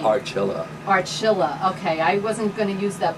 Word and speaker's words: Archilla: But you hear it from Bert Archilla that, I feel funny saying that, but Bert Archilla, who sings with Shades of Soul, says the